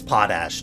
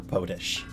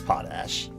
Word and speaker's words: potash: rot of a bucket or something yeah it's potash not potash or potish potash this is how I used to say